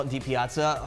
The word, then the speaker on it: DiPiazza: It's, you know who played Dodgers baseball? Mike Piazza.